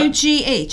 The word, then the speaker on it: Pugh: Pug. Absolutely. What's her name? Rachel Pug. No, it's not. P-U-G-H. How do you say that? Yeah, but that's not Rachel. Michelle. Pew. Yeah. Pew. Michelle Pugh.